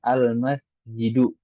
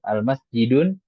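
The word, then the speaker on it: المسجدُ: Nah, kita bacanya Al-Masjidu, ya. Nggak boleh tanwin di situ. Al-Masjidun nggak boleh.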